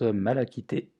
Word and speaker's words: malachite: la pierre numéro 2 c'est la malachite quand on découpe son nom qui se prononce mal acquitté donc très bonne pierre